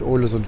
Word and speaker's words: Ålesund: Wir setzen hier über bis und sind dann schon fast in Ålesund. Ålesund wird es ausgesprochen.